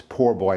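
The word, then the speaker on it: po' boy: be making um shrimp poor boy and it's uh it's spelled p o bo oy but it's poor boy it's based on it's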